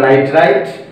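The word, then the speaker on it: nitrite: দেখো এখানে 2, এখানে কি 3, দুইটার মধ্যে এবার যদি একই থাকে যেটা কম থাকবে, এখানে 2 আছে এখানে 3 আছে, সেখানে উচ্চারণ হবে আইট, আর যেটা বেশি থাকবে সেখানে উচ্চারণ হবে এট। তাহলে এটা নাইট্রাইট, এটা নাইট্রেট।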